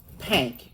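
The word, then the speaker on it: Pynk: And it's pronounced Pank.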